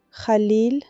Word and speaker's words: Khalil: Khalil, com o i longo, do jeito que eu chamava ele da cozinha.